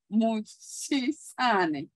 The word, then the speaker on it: Mochesane: Mochesane.